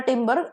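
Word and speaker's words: timber: तो नेक्स्ट वड पेर इज टिंबर सेम प्रोनंसिएशन एक में ई आर है दूसरे में आरई है तो ईआर वाला टिंबर एक्चुअली इसका मतलब है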